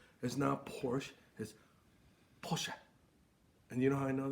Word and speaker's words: Porsche: guten tag and Porsche which is the correct pronunciation it's not Porsche is now Porsche is Porsche and you know I know that because I